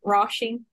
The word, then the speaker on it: Róisín: is said "Róisín" (raw-sheen) and in other places "Róisín" (rOe-sheen) and I have a friend from Galway called Róisín (rOe-sheen) but I say Róisín (raw-sheen) and I want to say Róisín (roe-sheen) because that's how it's said in Galway anyway, your name is Oisín